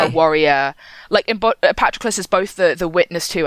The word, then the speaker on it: Patroclus: 2004 with Brad Pitt, which is why I pronounce Patroclus that way, even though I think it's wrong, because the film does, and that's where I learned it's Patroclus in the audiobook.